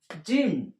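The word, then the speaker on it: جيم: জিম উচ্চারণ হবে, জিহ্বাটা ওপর তালুর সঙ্গে লাগিয়ে, এই জিহ্বাটা ওপর তালুর সঙ্গে লাগিয়ে জিম 3 আলিফ টান হবে।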